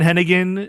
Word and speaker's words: Hennigan: Hennigan? It's John Hennigan, Yeah.